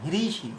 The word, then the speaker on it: হৃষীকেশ: হয়রি থাকলে ঋষি এরকম বলবে না, হ্রিষি হ্রিষি হ্রিষি।